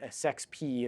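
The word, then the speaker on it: sexp: This isn't actually, sex P. It's although I think it's pronounced that, it's an S expression, which is an old Lisp term for stuff that's in between parentheses.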